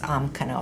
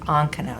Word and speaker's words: ankano: the m am cano but it's never pronounced omkano it's always pronounced ankano so we don't spell